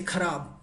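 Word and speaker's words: खराब: Bad means, in Hindi we say kharab, or also we can say bekar, alright? So let's go to the pronunciation.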